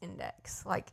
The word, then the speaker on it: Indyx: I mean, the app that I'm using, they spell it INDYX, but it's index, indexing your closet.